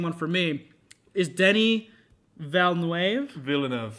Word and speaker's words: Villeneuve: Is Denis Villeneuve? Villeneuve. I feel criminal to pronounce that wrong.